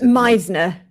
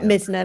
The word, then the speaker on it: Meisner: I think it's Meisner, not Mizner.